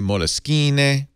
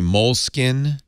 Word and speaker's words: Moleskine: So I always say Moleskine, but some people say Moleskine. Mm-hmm. Or Moleskine. Mm-hmm. And then if you ask them, they say it's pronounced however you want to pronounce it.